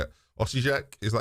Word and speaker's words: Osijek: Some proper established, Osijek.